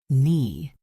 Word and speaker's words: knee: Knee. The K is silent.